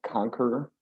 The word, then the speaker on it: Konkeror: he used to play in the band called conquer for those of you who might know it's spelled k-o-n-k-e-r-o-r all right yeah well there's already